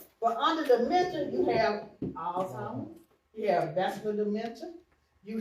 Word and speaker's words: Alzheimer's: Because we don't pronounce it right. Alzheimer's. Alzheimer's. Well, what do we call it? Old time. Yeah. Old time. That's not it. It's Alzheimer's.